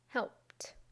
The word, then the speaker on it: helped: we add IDI but when we pronounce it we simply add a t sound to the end of the base verb I will say the